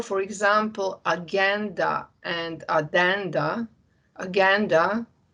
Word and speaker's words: agenda: example aganda and adanda aganda a word which you usually would pronounce as agenda things which you need